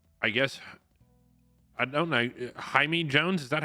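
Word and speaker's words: Jahmai: Cabrera and uh I guess I don't know Hae Jones Is that how you'd say it spell j a m AI yeah J it's pronounced Jami Jones Jami Jones okay I was gonna butcher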